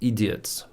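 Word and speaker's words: ідіот: That's why I recorded like we elect idiots. How do you say idiot in Ukrainian? Idiot. Like that. Idiot. Тупица, придурок. Тупой человек. This was in Russian, sorry. But in Ukrainian it's idiot, the same.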